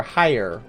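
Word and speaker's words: Hyur: and humans aren't human we're higher which is spelled h-y-u-r ellison is spelled e-l-e-z-e-n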